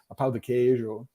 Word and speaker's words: pão de queijo: Pão de queijo. I'm trying to get the Portuguese pronunciation of it down right well.